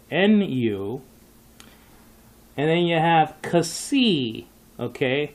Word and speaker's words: Xi: And then you have Xi, okay? That's how you say it. Xi, like K-S, Xi, and that's spelled out X-I.